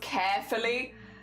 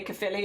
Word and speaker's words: Caerphilly: Oh, you eat it in Wales carefully? The amount of people I've heard say Caerphilly is carefully, it's like the most common, I feel like, mispronunciation.